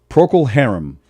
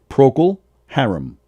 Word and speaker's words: Procol Harum: And then the other sad news I have in the music world, Procol Harum, name of a band from the 60s. Procol? Procol Harum. How do you spell it?